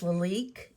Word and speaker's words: Lalique: It's Leique is how you pronounce pronounce it.